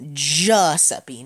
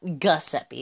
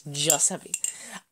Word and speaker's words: Giuseppe: who is Italian, and apparently it's pronounced Giuseppe, not Giuseppe. It's Giuseppe.